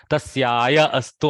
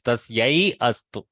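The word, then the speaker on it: तस्यै अस्तु: Tasyaya astu. Almost it sounds like tasyaya astu, but no, it is tasyai astu.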